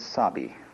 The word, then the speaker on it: sabi: which uh are basic the first is sabii and that goes along with something that rhymes with it Wabi so often Japanese people